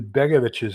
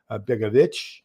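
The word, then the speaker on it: Begović: And so we'll do that after we do Begovic's book. And yeah, I pronounce it the Serbian way. So this would be a Hacek over the C, which makes it Begovic instead of Begovic.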